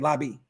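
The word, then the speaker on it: Laube: Lobby? Is that how you say Lobby? Yeah, Lobby.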